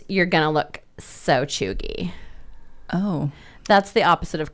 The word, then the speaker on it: cheugy: Chuggy? Chuggy, like CHUGY? Like it's CHEUGY, but it's pronounced chuggy.